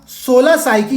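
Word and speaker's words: 16 Psyche: तो अगर इंग्लिश में ये टर्म लिखा है तो कंफ्यूज नहीं होना है, इसको हम 16 साइकी कहते हैं, जो पी होता है वो साइलेंट होता है, ठीक है।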